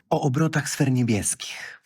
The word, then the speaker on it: O obrotach sfer niebieskich: O obrotach sfer niebieskich.